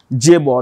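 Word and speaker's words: chaebol: it is pronoun with pronounced with a J okay J Ball now what's a j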